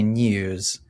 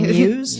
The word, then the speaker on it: news: For example, we would say news. And news. Jess, would you say news? News. Or would you say news? News. Not news. Dropping that sound.